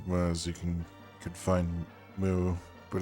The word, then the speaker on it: Mu: my pronunciation of things i've just always called it ma but i guess it's uh it's moo when i last time i looked it up because it's in uh